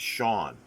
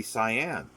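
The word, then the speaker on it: Siân: to um peter o'toole her first name is spelled s i a n the pronunciation of that is sean it's the feminine for for sean and that's mispronounced all the time like i never knew i never heard anybody so you think it'd be cyan and the weird thing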